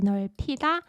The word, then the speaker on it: 넓히다: And if you combine he with 넓다 and say 넓히다, 넓히다, 넓히다, 넓히다, the pronunciation would be 넓히다.